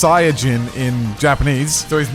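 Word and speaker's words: サイヤ人: that goku is from dragon ball z is pronounced sayagin in japanese so his name is like kind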